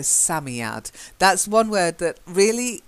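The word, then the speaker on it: Psammead: asami ad Sammy odd I think it's a silent pay like Sam so Sammy out that's one word that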